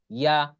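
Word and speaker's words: ي: জিহ্বার মাঝখানে উপরে যে তালু আছে তার সাথে লাগিয়ে এই 3টা হরফ উচ্চারণ হয় জিম, শিন, ইয়া। জিম, শিন, ইয়া।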